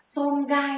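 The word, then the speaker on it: 損害: Tổn hại sẽ là xôn gai nhá mọi người, xôn gai.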